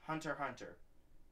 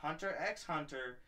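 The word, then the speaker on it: Hunter × Hunter: be talking about is Hunter Hunter yes I said this I said this correctly this time it's not Hunter X x Hunter it's Hunter Hunter the x is silent so hopefully everybody understands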